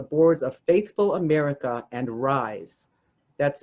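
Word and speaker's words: Rhize: serves on the boards of faithful america and rise that's spelled r-h-i-z-e serves on the core team of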